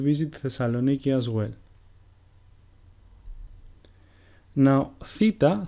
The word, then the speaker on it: theta: Now, theta sounds exactly like the way the letters TH are pronounced in the word thunder.